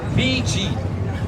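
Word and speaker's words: Vigie: And this beach is named VG. VG Beach. It's spelled V as in Victoria.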